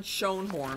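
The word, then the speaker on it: Schoenhorn: by an attorney in eastern Connecticut named John Sean horn I'm gonna spell it for you it's a SCH o e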